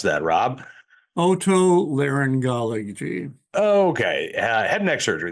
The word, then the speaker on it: otolaryngology: How do you pronounce that, Rob? Otolaryngology.